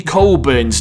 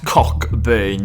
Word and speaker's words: Cockburn: and it is tony colburn's name yes guys it's pronounced colburn not cockburn but you know so tony